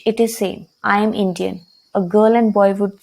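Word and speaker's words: indienne: Because n is followed by e, so we will pronounce the n. It would be Indian. Whereas if we see the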